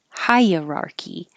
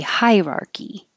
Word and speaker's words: hierarchy: say with the uh High uh higher key hierarchy or you can skip the uh and say hierarchy hierarchy in my mind I always think of hierarchy higher I'm saying High hierarchy it's more this one that I'm saying but it's because it's a weird word it's weird spelling and it's weird sounding if I think of it as three words that I recognize hierarchy that helps me say it hierarchy maybe that's